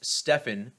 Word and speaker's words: Stephen: Granted, it's pronounced Stefan, but it's spelled the same way.